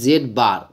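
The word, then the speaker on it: z̄: বলে modulus জেড জেড এটাকে কি বলা হয় জেড বার ঠিক আছে জেড বার বলে উচ্চারণ করা হয় বা যে z এর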